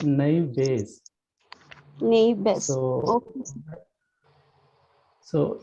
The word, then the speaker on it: Naive Bayes: The main theorem which you were revolving about, it's not pronounced as Navy bias. Okay. If you would be kind enough to even search on Google, Yeah. it's Naive Bayes.